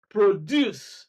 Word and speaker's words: produce: Then verbs, produce, second syllable, report, second syllable, narrate, second syllable, transfer, second syllable, dictate, second syllable.